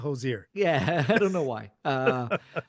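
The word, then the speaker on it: Hozier: And we will start with Hosier, because I think that's how you say it. Hosier, Hosier. not hoser.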